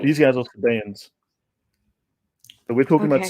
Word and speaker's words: Sabaeans: It's not it's and it's from this, how do I pronounce this one right without alluding to the other ones? Sabaeans? Sabaeans, yeah. Sabaeans. Sabaeans. Yeah, the other ones are Sabians.